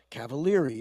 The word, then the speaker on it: Cavaliere: he's another Gem Gem he pronounces it correctly in Italian which is the way you said it Cavalier you pronounced all